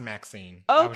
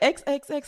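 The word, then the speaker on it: MaXXXine: I didn't know you pronounced it well it's pronounced Maxine okay okay I was like you said XXX I was like is that how you say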